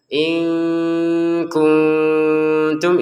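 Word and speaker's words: إِن كُنتُمْ: Nun sukun bertemu ta dibaca samar lagi ya. In kuntum, ini samar.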